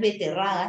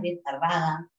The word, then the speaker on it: betarraga: B, ojo, no es beterraga, es betarraga.